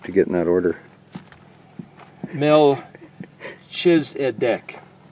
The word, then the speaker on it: Melchizedek: get in that order mell choose at deck this is where they take the letter Koff and they pronounce it as a CH but that's a no